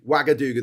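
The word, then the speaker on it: Ouagadougou: It's spelled O U. Wagadooga.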